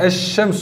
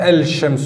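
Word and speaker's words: الشمس: mot là el cheikh lorsque le lem et solaire on l'écrit on l'écrit mais on ne le prononce pas on dit james o on dit pas l chems ou deuxième chose sur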